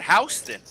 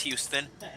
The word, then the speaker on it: Houston: Or is it Hon? No, it's Houston.